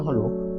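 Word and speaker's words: who: কে হু মানে কে এক্ষেত্রে ডব্লিউ টা সাইলেন্ট বা এটি উচ্চারণ হয় না কাটা চিহ্ন কেন না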